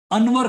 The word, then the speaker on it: Anwer: मेरे पास भी अभी एक भाई साहब हैं, अच्छा खासा नाम है उनका, अनवर खान।